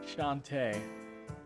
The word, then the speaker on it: Shantae: So I've been mispronouncing his name the whole time. Shantae. Like the half genie.